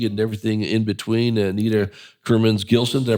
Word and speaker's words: Kurmins Gilson: Thanks for coming in and joined by your friend and colleague and everything in between, Anita Kerman's Gillson. Did I pronounce that correctly?